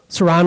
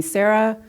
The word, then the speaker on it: Saran: the name session because my name is Saran and it's spelled s-a-r-a-n but sometimes people like to just drop off the end and call me Sarah or sometime it's Susan or Saran so that was an